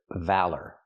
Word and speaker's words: valor: Now, let's talk about this word valor. Valor, use the short a sound like black cat, val, then the er sound like burger, valor. Put the stress on the first syllable.